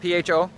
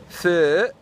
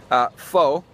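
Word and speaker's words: phở: Most people say pho, because that's how an English person would read P-H-O. And then I mentioned in another video that I heard somewhere, I think on a TV show, that the correct pronunciation would be pho.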